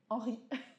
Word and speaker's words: Henri: Henri.